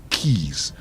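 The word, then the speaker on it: quays: of dilapidated warehouses and keys that word is pronounced as key u a y is key it's key it's not qu no it can't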